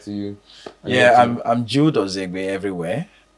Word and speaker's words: Ozinegbe: Yeah, I'm Jude Ozinegbe everywhere. Like I said, the N is silent, but it's OZINEGBE.